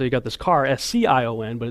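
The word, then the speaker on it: Sion: got this car as cion but it's pronounced the same way and you've got these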